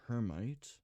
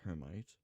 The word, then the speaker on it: hermite: So in that case, we're going to do hermite. Or could be called hermit. I'm fairly certain it's pronounced hermite.